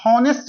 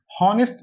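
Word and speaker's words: honest: इसमें जो एच होता है ना वो साइलेंट होता है। उसको पढ़ा ही नहीं जाता। ऑनेस्ट नहीं पढ़ते हैं। हॉनेस्ट नहीं इसको पढ़ते हैं ऑनेस्ट मैन। ऑनेस्ट ओ का साउंड आता है।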